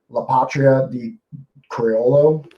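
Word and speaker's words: La Patria del Criollo: So that one again is La Patria de Criollo is actually how it's pronounced.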